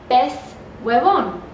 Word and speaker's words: pez huevón: But then something happens and they don't pronounce the pues. They say pez. Pez in Spanish means fish. Pez huevón.